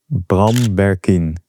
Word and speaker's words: Bram Berkien: Well, my full name would be Bram Berkien.